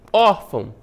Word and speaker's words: órfão: Órfão, uma paroxítona, né? A penúltima sílaba tônica é o OR, né? Terminada em quê? Em AN, olha só, terminada em AN, vai receber o acento.